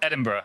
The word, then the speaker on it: Edinburgh: What's the right pronouncer? Edinburgh.